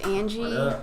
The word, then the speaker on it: anji: on my live real quick okay so it's pronounced Angie I've been saying oh we they can take